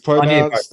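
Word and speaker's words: Agnès Varda: Varda, yeah, but it's not pronounced Agnes. It's pronounced another way. My better half taught me how to pronounce her name right. Yeah, Uh, Anya Varda.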